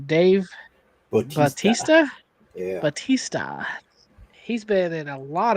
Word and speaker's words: Bautista: Then we have how do you pronounce his last name? Dave Bautista. Batista? Yeah. Batista.